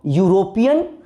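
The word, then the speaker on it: European: बोलिए तो यूरोपियन, इसको क्या पढ़ते हैं यूरोपियन य से, यूरोपियन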